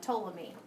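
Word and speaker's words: Ptolemy: ahead and put uh toam me Claudius C told me the p is silent okay and he was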